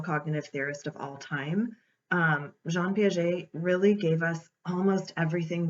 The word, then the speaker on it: Jean Piaget: His name is French, obviously, so the correct way to say it is Jean Piaget. I've heard people say Jean Piaget, all kinds of different things, but if you put the French accent on it, it's Jean Piaget.